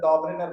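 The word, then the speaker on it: Döbereiner: अच्छा, डॉबरेनर, इसको अगर जो सही से प्रोनाउंस किया जाए तो डॉबरेनर बोलते हैं, ठीक है।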